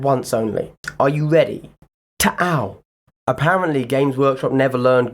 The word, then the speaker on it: Tau: However, due to copyright reasons, I shall now pronounce the name correctly once and once only. Are you ready? Tau.